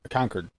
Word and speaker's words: Concord: It's like spelled like phone cord. It should be cord, but there's 2 of them near me, and they're both Concord is the way they pronounce them.